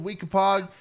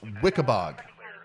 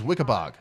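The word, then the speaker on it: Weekapaug: to move into okay it's pronounced wickabog okay so wikipog is wikibog okay gotcha what about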